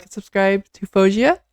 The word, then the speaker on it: Faouzia: But yes, did I say her name right? Fauzia? Someone sent me this YouTube link about how to say her name and she's like Fauzia, Fauzia, Fauzia. Now sometimes I guess people do say Fuazia, like two foo, but Fauzia. That's the main thing.